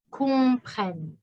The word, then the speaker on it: comprennent: deux n deux n comprennent attention en français ent pour les verbes c'est toujours silencieux it's always silent favors